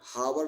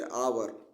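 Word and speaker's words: hour: back in आवर आवर एच ओ यू आर हावर नहीं पढ़ा जाता है इसको इसको क्या पढ़ेंगे आवर आवर पढ़ा जाता है इसलिए अ से लिखा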